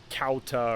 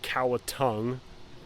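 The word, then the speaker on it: Cauta: there was one name it was spelled c-a-u-t-a but it had an accent on the A and it was actually pronounced so you would think it'd be pronounced cowta or kauta it was actually pronounced cowatung don't know where the NG sound came from uh that was one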